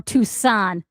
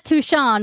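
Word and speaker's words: Tu'Shan: scream and tail says it's pronounced tan or tusan. I read it as tuchan which is the chapter master of the salamanders.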